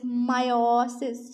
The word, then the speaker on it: meiosis: जो है वो EOIS मायोसिस, ठीक है। इसकी थोड़ी सी प्रोनाउंसिएशन जो है वो थोड़ी सी आप कह लो कि IE वाली है, ठीक है, मायोसिस।